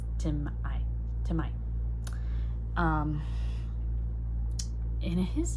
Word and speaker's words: Tima: And his name is one of those where he spells it T-I-M-A. And its root is actually T-I-M apostrophe A. And so there's actually a vocal pause there. So he pronounces it Timah. The official pronunciation is Timai.